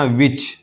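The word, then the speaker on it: which: इसको पढ़ेंगे वाई वाई इसी तरह विच विच एच से पहले डब्ल्यू एच के बाद आई तो यह एच साइलेंट है। यानी नहीं पढ़ा जाएगा। विच कहेंगे विच।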